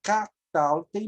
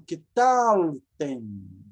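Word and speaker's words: קְטַלְתֶּם: Olha, aqui seria kataltem, mas como aumentou uma sílaba, essa sílaba, por estar muito longe da final, ela vira shevá. Então, ketaltem. Ketaltem.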